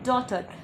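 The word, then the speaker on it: daughter: फिर आता है डॉटर। डॉटर का मतलब होता है बेटी, और यहाँ पे एक साथ जी और एच दोनों ही साइलेंट है।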